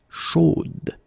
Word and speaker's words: chaude: change a little bit, chaude. So here you pronounce the final d, whereas in the masculine form you don't pronounce it.